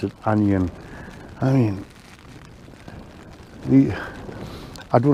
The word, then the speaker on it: Anjan: like it i've just been told how to pronounce the word i was calling it the angel ii it's a anion 2 apparently andy says that's how you pronounce it onion i mean the i don't know how it